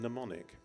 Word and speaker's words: mnemonic: of a visual and mnemonic the M is silent as in ptarmigan and then the next